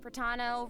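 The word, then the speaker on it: Protano: I'm Pratano, rhymes with Capitano, the voice of Child's Master, Skirk.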